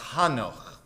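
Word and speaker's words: חנוך: In Hebrew, this is pronounced Hanoch.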